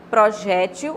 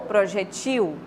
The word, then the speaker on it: projétil: hieróglifo humilha ou homilia Projétil ou projetil réptil ou réptil é estranho para nós né eu vimos isso mas ela é permitida Geralmente as pessoas que falam mas essa primeira pro o projétil réptil né mas as duas são corretas soro ou soró transisto